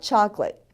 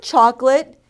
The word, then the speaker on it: chocolate: The word for chocolate in Spanish is chocolate. It's spelled the same, but we pronounce all the letters in the word.